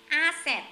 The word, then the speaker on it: asset: Rồi, asset, tài sản này. Từ này hay gặp asset. Trong phần trắc nghiệm. À, phần mà nhấn âm, phải phát âm á. Asset. Nhấn âm đầu.